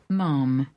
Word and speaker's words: ma'am: A wonderful listener Luke Hayward sent in the final, what I consider to be the final word on the pronunciation of ma'am.